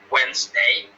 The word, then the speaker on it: Wednesday: some people you know some people many people say wednesday but it's supposed to be wednesday yeah that's pronunciation okay